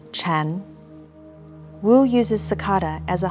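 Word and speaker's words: 禅: and child zen in mandarin chinese sakata and zen are both pronounced chan wu uses cicada as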